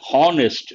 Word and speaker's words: honest: errors usually people say honest no h is silent honest because the letter h is silent or mute we have to use